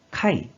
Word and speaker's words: 改: 이 한자 뜻으로는 아라타메르, 아라타메르, 음으로는 카이, 카이로 각각 발음해줘요.